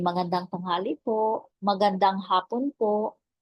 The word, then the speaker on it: magandang: araw po Okay so in Tagalog there is no silent letter so you can read it all like maganda with the ng m Okay magandang like sang sing like that Magandang araw po Magandang